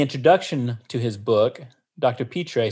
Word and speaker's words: Pitre: the name of Brant Pitre. And I'm not sure that's exactly how you pronounce his last name. It's P-I-T-R-E. And I looked up online and it suggested Pitre as a pronunciation, so I hope I'm not mistaken.